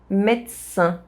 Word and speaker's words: médecin: Médecin. The S sound modifies the D sound and it becomes a T sound.